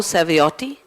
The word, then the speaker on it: Saviotti: Well, the only thing is there are two T's at the end, but that's very difficult for nonItalians to pronounce, you know.